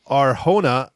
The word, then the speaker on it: Arjona: And then Adria Arjona, I think that's how you pronounce it. Adria, it's Jona, but I'm pretty sure it's H. Arjona.